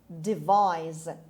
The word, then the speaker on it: devise: number 11 devise devise devise the stress is on the second syllable it's on v device it means think out